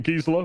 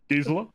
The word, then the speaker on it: Gisela: I'm playing Gisela, which is how I say it, because there are multiple pronunciations of this name. Yep, Gisela, Blade of Gold Knight.